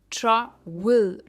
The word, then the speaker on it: travel: इसके बाद है हम ट्रैवल, वेल नहीं कहते, ये है ट्रैवल, ट्रैवल, ट्रैवल एंड not well. Try पर इसका स्ट्रेस है, ट्रैवल यानी यात्रा।